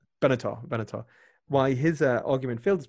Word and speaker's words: Benatar: Is it Benzar? Benatar.